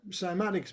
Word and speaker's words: Cymatics: Simatics by the way is spelled with a C. So C Y M A right simatics.